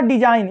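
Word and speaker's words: design: जैसे यहाँ होता है डिजाइन, यहाँ लिखा है डिजाइन, तो यहाँ देखिए जी के बाद आया है यन, तो यहाँ हमेशा क्या रहेगा, जी क्या रहेगा, साइलेंट रहेगा।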